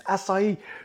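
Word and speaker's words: açaí: going on in there acai going in there is pronounced sa not a chi i saw an advert we've got quan once and he said get some acai its acai there's me telling somebody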